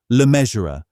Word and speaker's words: Le Mesurier: and her maiden name, Le Mesurier, was the one her son would eventually take for the stage. The surname rhymes with treasurer.